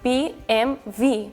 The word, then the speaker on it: BMW: So we we make different BMW w Italian is actually BMV because the W we read sometimes if it's by itself. So we say BMV but we should say BMW. But same as the Spain, we we just make it shorter like BMV.